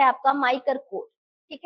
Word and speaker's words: MICR: इसी को अगर थोड़ा सा प्रोनाउंस करोगे इसका MICR को, तो माइकर जैसे बोल सकते हैं ना इसको, माइकर करके, तो इसको माइकर भी बोलते हैं।